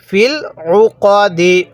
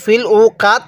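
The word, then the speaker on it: في العقد: আইন পেশ উফ জবর কদ দাল জের দি ফিল উকদি ওয়াকফু করলে কিভাবে পড়বো ফিল উকদ ফিল উকদ কেউ ফিল উকা কাত পড়বো না ঠিক আছে কদ দাল জবর কাত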